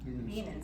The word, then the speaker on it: Bienen School: In 1992, he joined the faculty of the Bien School, or how do you pronounce that? Bienen School of Music at Northwestern University.